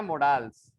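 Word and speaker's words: modals: इनको अभी अब प्रोनाउंसिएशन छोड़िए, वैसे तो बोला जाता है मोडाल्स।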